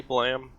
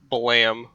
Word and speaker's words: BLAME!: Uh, Blam. It's spelled B-L-A-M-E. Well, I pronounce it Blam because I think it's supposed to be the sound the Wanderer's gun makes, but it's spelled Blame.